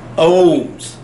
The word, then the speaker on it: ohms: Greek letter Omega however we use the Greek letter Omega but we don't pronounce it Omega we pronounce it ohms so for resistance I